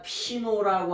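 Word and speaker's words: πίνω: 것을 마신다는 동사가 뭐냐 피노라고 하는 동사의 피노 요거를 요거를 뭐냐 피노라고 읽어요 읽어요 근데 도스모이 폐인이 되면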